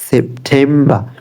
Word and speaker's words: September: এরপরে July, July, July, August, August, সেপ্টেম্বর, সেপ্টেম্বর, সেপ্টেম্বর, সেপ্টেম্বর, সেপ্টেম্বর, সেপ্টেম্বর। জানুয়ারি, ফেব্রুয়ারি, March, April, মে, June, July, August, সেপ্টেম্বর। October, October, October. যেহেতু আমরা আরটাকে silent করতেছি, এই ক্ষেত্রে প্রত্যেকটা শেষে আরটা সাইলেন্ট থাকবে।